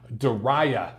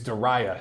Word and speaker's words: Diriyah: Joshua Ruiz doing it again in, I keep messing up the pronunciation for this city. Diriyah. I think it's Diriyah, Saudi Arabia, doing it live.